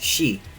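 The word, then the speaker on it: 死: number in Japan with the pronunciation of it being identical for the Japanese word for death which is she American Kirby is Hardcore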